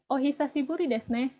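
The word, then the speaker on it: お久しぶりですね: Bacanya ohisashiburi desu ne.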